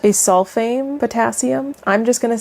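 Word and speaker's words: acesulfame potassium: And then you have ACEK or it's uh the pronunciation is a asulfame potassium.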